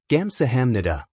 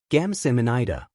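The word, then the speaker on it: 감사합니다: Her attempts to learn Korean and the words she kept mispronouncing. Say this, he said. Gamsahamnida. Gamsamanida, she repeated slowly, stumbling over the syllables.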